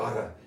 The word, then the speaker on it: Ara: Ara. It sounds like a snake in like a Disney cartoon.